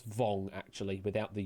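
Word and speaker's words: Vuong: Uh, but vong that I pronounced there. No, it's pronounced as vong actually without the u in it. So, pronounced as vong.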